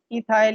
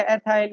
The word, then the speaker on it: ethyl: अच्छा, और C2H6 है एथेन, और उससे इथाइल या एथाइल या एथिल, जो भी आप, इतने अमेरिकन या ब्रिटिश हैं या पाकिस्तानी हैं, राइट।